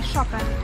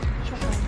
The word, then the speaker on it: Chopin: Shopping is the right pronunciation. Shopping. Shopping. We say Chopin. Chopin.